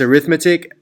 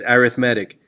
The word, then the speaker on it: arithmetic: or arithmetic that word if you pronounce it like a noun it's arithmetic like an adjective it's arithmetic so this one's arithmetic